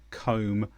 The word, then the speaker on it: comb: For example, climb, comb, lamb. I climbed a mountain. I combed my hair. A baby lamb is in the field. So in climb, comb and lamb, we don't say the B sound.